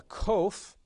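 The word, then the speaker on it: qof: distinguish between the sounds the next sound is a cove it is the q sound and it again will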